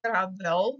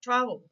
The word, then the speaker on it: travel: ponemos normal el sufijo Travel es el mismo caso no digo Travel digo Travel Entonces es el acento está en otra sílaba por lo tanto ese